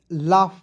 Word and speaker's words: laugh: AU है इसका देखिए लाफ पढ़ते हैं तो यू को साइलेंट करेंगे, ए से आ की मात्रा और GH का फ पढ़ेंगे लाफ। अब कहिएगा सर यहाँ पे AU है तो बस ए का उच्चारण किए, यू का उच्चारण क्यों नहीं किए, तो आपको याद रखना है जब दो भवेल ए और यू एक साथ रहेगा तो एक भवेल को हम लोग उच्चारण नहीं करते हैं, ठीक है। तो LAUGH पढ़ेंगे लाफ।